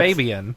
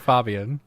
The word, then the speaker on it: Fabian: He was doing his thing, and I'm like, I'm pretty sure it's Fabian. I've never heard Fabian. So since it's a German name, it's Fabian.